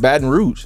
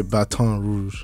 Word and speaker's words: Baton Rouge: I thought it was just Baton Rouge. It's really French. It's really Baton Rouge. Oh. So take us back to Baton Rouge.